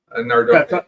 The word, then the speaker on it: Nardone: Nardone. Because somebody asked me that. They said, you don't pronounce his name 3 different ways. I said, hey, I say it's Nardone. That's it. That's correct.